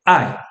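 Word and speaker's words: 愛: A pronúncia dele é ai.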